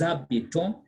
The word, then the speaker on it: habitons: You slur the S and A because the H is silent. So that's why I say nous habitons, vous habitez, ils habitent, elles habitent.